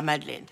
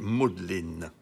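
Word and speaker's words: Magdalen: J'ai étudié l'histoire à Madeleine à l'université d'Oxford. Je croyais qu'il fallait prononcer Modelin. Chacun prononce comme il veut, inspecteur.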